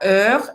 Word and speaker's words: heure: Lembrando que para heure é aquela mesma pronúncia que a gente já viu antes, né? Faz a boca do O e fala E.